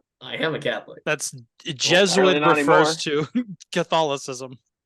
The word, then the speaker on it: Jesuit: uh noblemeyer from uh I think this is pronounced juice it high school or just Jesuit Jesuit wow does it it's just it is it just we have Jesuit pronunciations it's just it